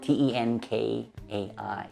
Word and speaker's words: Tenkai: mentioned the name of the brilliant magician Tenkai before on this channel, and it is spelled T-E-N-K-A-I, Tenkai.